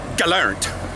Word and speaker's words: gelernt: Because in English, if you were to do an English pronunciation of a German word, like learned, it would be gelernt. In German, it's gelernt.